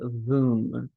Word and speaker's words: Voom: getting suggestions and we spent a long time talking about what they have to offer with Voom rhymes with Zoom.